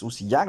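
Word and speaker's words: Uzías: Si uno busca en qué época nació Usías, que es Uziyac realmente como se pronuncia, se calcula entre el año 750 a 825, antes de la venida de Yahshua, cuando se inventaron las catapultas.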